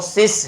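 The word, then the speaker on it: cease: इसको बहुत सारे स्टूडेंट्स जो इसको सीज भी बोल देते हैं, तो ये सीज नहीं है, इसकी जो प्रोनाउंसिएशन है वो सिस है जिसका अर्थ होता है एंड।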